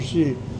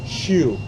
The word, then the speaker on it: Hsu: We pronounce it Shi in Chinese, but he spells his name HSU.